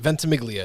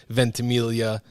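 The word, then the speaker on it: Ventimiglia: bad got it vent miglia it's it's not the Italian pronunciation which would be venilia you could call me either my students call me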